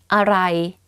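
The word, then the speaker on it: อะไร: But don't confuse this word to what, which is aray. For me, I have a foreigner friend, and I always ask him to pronounce this this sentence, which is everything is delicious.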